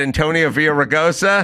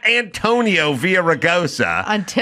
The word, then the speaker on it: Villaraigosa: Out here, we had Antonio Villaraigosa. I remember. Tony Villar's that guy's name. Yep. He is Tony Villar, guy who failed the bar 5 times. That's his name. It's not Antonio Villaraigosa.